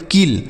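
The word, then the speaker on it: kill: इसे हम पढ़ेंगे के से क, आई का छोटी की मात्रा और डबल एल से लो, इसे हम पढ़ेंगे किल। ठीक है, तो अगर दो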